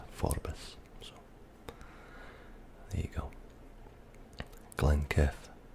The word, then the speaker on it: Forbes: Although in Scotland I've noticed there is some argument over whether it's Forbes or Forbes. I knew a guy called Forbes, spelled Forbes, and he assured me that his name was pronounced Forbes.